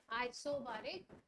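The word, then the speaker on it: isobaric: तो process during pressure remains constant, pressure क्या है, कांस्टेंट रहेगा, उसको हम क्या बोलेंगे, आइसोबारिक। तो कैसे, हाँ आई आइसो, Sorry, NER. आइसोबारिक, आइसोबैरिक भी बोलते हैं, आइसोबैरिक भी।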